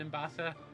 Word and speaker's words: Ambessa: Also, I understand I've been pronouncing Ambessa's name Ambessa and Ambessa. It's Ambessa. I don't know why I pronounced it the other way.